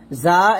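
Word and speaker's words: ظ: জা এবং র, জাটা জিহ্বাটা নিচে দাঁতে লাগবে, যেমন জাল্লা, আর রটা উপরে দাঁতের আগে লাগবে মোটা করে, ওয়াল্লা, জাল্লা, ওয়াল্লা।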